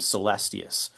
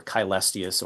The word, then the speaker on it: Celestius: Scholars will debate on how exactly to to frame this, but a man named Celestius or Kystius or Chaestius depending on what uh pronunciation of Latin you're going with.